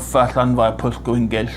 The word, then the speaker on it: Llanfairpwll: So you put your tongue in the position for L and then expel a heavy stream of air which causes friction.